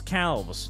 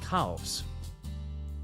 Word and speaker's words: calves: chats demand Cales Cales huh she chat wants Cales not just feet he wants Cales are you talking about calves yeah Cales Cales calfs calves calves you may have Cales I have calves